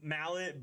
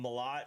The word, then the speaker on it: Malott: Yeah, I have been pronouncing it Mallet, but I overheard someone call him Malott. So now, like when I was listening to the fight, they kept saying Malott.